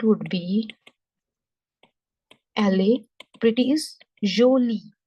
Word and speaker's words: jolie: Pretty is jolie. Jolie. The sound of J is not J. This is J sound. J. J. Okay.